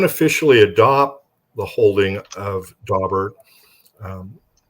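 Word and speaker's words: Daubert: officially adopted um dobert d b t some pronounce doar but dobert um they say it's um um well we don't officially adopt the holding of dobert um it's guidance for judges to look at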